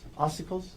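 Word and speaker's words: ossicles: The um and I'm I guarantee I'm going to pronounce some medical words wrong, but oicles. Oicles.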